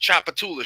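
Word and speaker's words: Tchoupitoulas: It probably doesn't even say half the letters that's in the word. Okay. I'm gonna tell you now. That's pronounced Chapatula Street.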